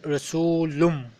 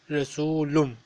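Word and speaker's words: رسولٌ: When we have this meme, we will pronounce as Rasulum. We will pronounce it Rasulum.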